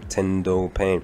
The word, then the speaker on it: Tendo Pain: tendo pain yes that's how i that's how pronounced his name tendo pain you know we have his character he literally